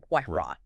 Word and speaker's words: Huayra: Huayra.